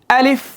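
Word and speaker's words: ألف: আলিফ আলিফ যখন বলব আমরা একটা বাতাস বের হবে।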